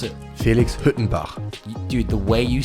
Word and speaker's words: Huettenbach: How can you give me the honest how you pronounce it? Felix Huettenbach.